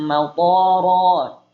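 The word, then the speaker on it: مطرا: Pakai toknya pendek, enggak panjang. Nih, bacanya salah. Toknya panjang. Wa amtarna 'alaihim maqara. Toknya panjang.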